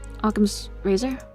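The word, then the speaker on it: Occam's razor: one known as aam's Razer how do you pronounce that actually aam aam's razor that's right okay and I might as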